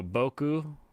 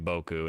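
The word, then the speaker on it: 僕: that was pretty close it's so boku it's always going to be boku and it means like me uh like mine but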